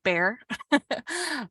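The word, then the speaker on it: Bexar: are San Antonio Texas is in Behar County and um you know if you're from here you might pronounce it bear um but this is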